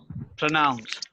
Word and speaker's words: pronounce: And it is not pro, it's pra.